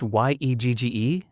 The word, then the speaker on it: Yegge: I think it's pronounced Yegge.